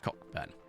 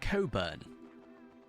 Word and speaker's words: Cockburn: ] bur right but it's not pronounced cockburn no it's pronounced Coburn there's some news for